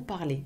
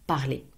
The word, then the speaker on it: parlez: Vous parlez, E-Z, vous parlez, pronounced as if it was an E with a stress on top of it, un accent aigu. Vous parlez.